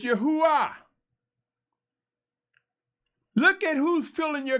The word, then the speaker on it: Yahuah: And those who rather say Yahweh, pronouncing the letter E like A, that's a European construct. It's Yahuah.